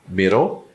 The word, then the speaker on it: middle: Middle ou middle. Eu tenho dois Ds e um L, que vira dull. Ah, mas e o ela no final? Ele não participa da pronúncia.